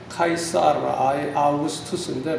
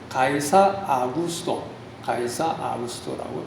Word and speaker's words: 카이사르 아우구스투스: 그 당시 로마 황제가 카이사르 아우구스투스, 이게 좀 발음이 어려운데 헬라말 그대로 하면은 카이사르 아우구스투스인데 보통 우리가 이제 이전의 성경에는 가이사 아구스토라고 표현했습니다.